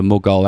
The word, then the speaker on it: Mughal: So you get to select a prince for the Mughal Empire. I feel like I might be pronouncing that wrong. Let's have a listen. It is actually pronounced Mughal.